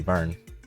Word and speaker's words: Vern: It's definitely supposed to be Vern.